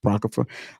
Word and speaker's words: Apocrypha: not the Ala Apocrypha I said it wrong Apocrypha um not the cataclysm Catholic Bible um not